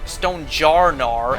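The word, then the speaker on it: Stonjourner: I think the only regionals I'm missing is Reicanth, Moractis, Sigilith, Stonejourer, or Stone Stonejar as it's officially pronounced.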